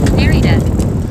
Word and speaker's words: Narita: He said that's not how you say it. It's Narita. Narita with a hard R.